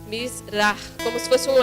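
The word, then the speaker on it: מזרח: Bom, aqui no hino só tem uma das palavras que é Mizrah. Ali onde tem o CH no final é um som como aspirado. Mizrah, como se fosse um R. Mizrah.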